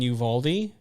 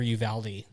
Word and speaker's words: Uvalde: yeah for sure so I've either been in Uvalde yeah or Uvalde it really depends on who you're talking to so I I would